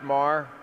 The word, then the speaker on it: Maher: much how you doing thank you uh it's pronounced Mar but I'm still really thrilled to be here